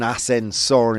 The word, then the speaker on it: ascensor: Ascensor. Is it pronounced well? Ascensor. Oh, ascensor. Ascensor. Ascensor. Okay, whatever. Todo seguido. People would have understood me. Ascensor. Ascensor. Very good.